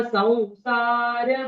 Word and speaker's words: संसार: मैं आपको बता रही हूँ, संसार ये हिंदी उच्चारण है, संसार। हम्म। संसार ये संस्कृत उच्चारण है। सौसार, हमें सौसार बोलना है। हम्म, संसार बोलना है, क्यों? क्योंकि ये जो स के ऊपर जो अनुस्वार है, इसका संसार। उच्चारण वौ होता है संस्कृत में।